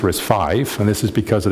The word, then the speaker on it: RISC-V: uh uh Roman numeral but it's pronounced risk five and this is because